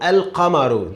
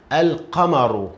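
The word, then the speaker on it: القمرُ: It's already pronounced. So al-qamaru, the word together. Al-qamaru. Again, al-qamaru.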